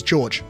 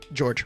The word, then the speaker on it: Jorge: Like, for example, my name in Spanish is Jorge, right? But I don't, my name's George. That is like actually my name. My name is George. It's spelt as Jorge, Jorge, but it is George, right?